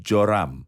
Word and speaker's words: Joram: orang lain yang disebut yoram atau joram joram adalah nama yang sama dengan yoram dan pengucapan untuk satu nama tapi ini Raja Israel